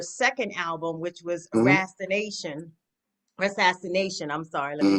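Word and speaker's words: Rassassination: Assassination. I'm sorry. Let me Mm-hmm. make certain I put that extra syllable in there. And so how was it working with Dr.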